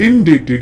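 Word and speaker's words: indebted: list में इन डेटेड इन डेटेड यहां पर बी साइलेंट है डेट का मतलब होता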